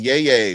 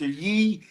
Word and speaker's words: Yee: Yay. What's up, brother? Tell us how. I love how you say my name. It's Mr. Yee.